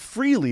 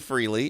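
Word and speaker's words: Frehley: Well, I always said Freely and everyone when he died, it was everyone was saying Freillley. I was saying it wrong for 50 years. Freley. That's what everyone was saying. That's a cruel joke. Ace Freilley died. I was like Freely. It's definitely Freley.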